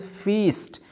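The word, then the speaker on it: feast: या मुक्का होता है एंड the pronunciation is फीस्ट, so long vowel will be here again, it's फीस्ट।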